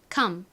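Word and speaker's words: come: 무슨 의미였나요 오다라는 의미이죠 발음은 컴입니다 따라해 볼게요 오다 com 좋습니다 자 이제이 6개의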